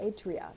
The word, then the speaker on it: Atria: Atria. That's how they That's it, pronounce it.